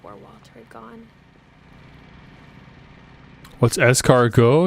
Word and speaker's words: escargot: walter had gone what's escargo it's a french thing it ends with a t if you want to google it escargot but with a t it's a silent t i've had it before